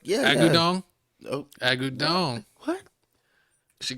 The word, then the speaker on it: Agudong: Say it like Agudong.